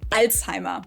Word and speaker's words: Alzheimer: Alzheimer's, as people here in the US say. In Germany, where the disease was first identified in the early 1900s, we call it Alzheimer. There's the Z letter again.